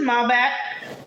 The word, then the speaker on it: Malbec: So this is Malbec from Cooper's Hawk.